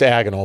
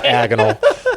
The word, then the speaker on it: agonal: agonal breathing is pronounced agonal by the way agal it's agonal that's one of the jokes that's one of the jokes in the show actually like Harry Potter diagonal or something so um he do